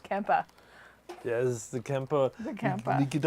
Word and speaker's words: Kemper: oh okay all right it is and it's pronounced Kempa yes the camper we get out my phone